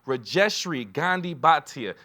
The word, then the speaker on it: Rajeshri Gandhi Bhatia: Keo haror Keo Harbor excuse me we have reestri Gandhi batia thank you so much for your time thank